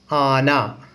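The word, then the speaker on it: ആന: आना। Very good. आना कैसे लिखते हैं मलयालम में देखा जाए। पहले आ लिखना है, उसके बाद ना, आना। ठीक है, तो इसका प्रोनाउंसिएशन आ ना।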